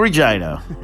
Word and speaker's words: Regina: moose named Mac and visit the city of Regina yes yes yes the one that Ryan Reynolds said rhymes with fun and then on to Winnipeg Manitoba